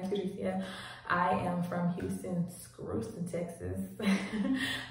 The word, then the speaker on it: Curtricia: For those who do not know me, it's pronounced Curtricia.